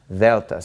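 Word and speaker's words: Δέλτα: is Vetta and it is basically pronounced like the th in the word the okay if you speak Spanish you're probably used to pronouncing the DS in this way but this is Delta Delta so alpha vita Gamma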